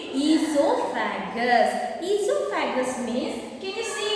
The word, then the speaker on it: esophagus: next one is esophagus here o is silent you have to read read esophagus esophagus means can you